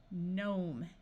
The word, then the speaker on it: gnome: can add suffixes wrongly if you start a word with G and N the G will be silent so this sound is n nnat Nash nashing gnome a r says R